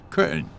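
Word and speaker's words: Köln: one syllable for example the German name for the city of Cologne is curtain that's one syllable and the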